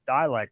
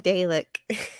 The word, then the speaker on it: Dalek: Like I also have the Canadian pronunciation of Dalek, which Dalek's given up trying to correct me on.